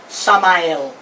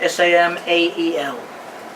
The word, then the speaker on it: Samael: mean in Sephardic Jewish tradition, we call Satan Samael. You spell that S-A-M-A-E-L.